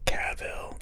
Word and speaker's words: Cavill: reading about henry cavill and yes it is pronounced cavill i just googled it and heard it from